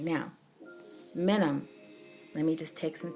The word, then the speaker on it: minim: I am you know so just think of saying minimum but you're not saying the entire word just in the minimum and then semi break